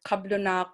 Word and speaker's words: kablunak: so like the word kablunak which means settler could also it's it's most it's spelt with a b for most of the time because we pronounce it with a b but b and p